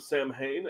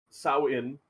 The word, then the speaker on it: Samhain: Oh, it says there's actually pronunciations for them in the precursor, which is the Sao-In and Yi-Shi. So I was way off.